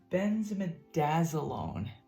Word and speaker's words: benzimidazolone: Now this one is pronounced benzimidazolone.